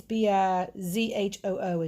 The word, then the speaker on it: Bijou: I think it's Bizhoo is the pronunciation, not the correct spelling.